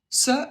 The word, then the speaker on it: ce: Il faut bien prononcer le E. Si vous prononcez et, je vais entendre un autre adjectif. Et si vous prononcez est, j'entendrai carrément un autre mot.